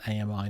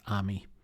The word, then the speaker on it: AMI: So at least from Reddit users, AMI is pronounced AMI, not Army.